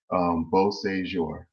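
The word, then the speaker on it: Beauséjour: When you break it into 3 syllables, it becomes easier to say. It just means beautiful day in French. So Beausejour.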